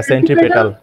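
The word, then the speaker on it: centripetal: না আরেকবার ফোর্স হ্যাঁ সেন্ট্রিপেটাল হ্যাঁ হ্যাঁ ঠিক আছে সেন্ট্রিপেটাল এইটা আমি এটা সেন্ট্রি ফিউগাল ফিউগাল উচ্চারণ করতেছিলাম কিন্তু এইটা হচ্ছে ফিউগাল আর এটা হচ্ছে সেন্ট্রি পিটাল ওকে সেন্ট্রিপিটাল ওকে পি উচ্চারণ হবে পি পি পি পি ওকে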